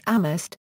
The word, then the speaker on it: Amherst: The town is home to Amherst College, Hampshire College, and the University of Massachusetts Amherst, three of the five colleges. The name of the town is pronounced without the H, giving rise to the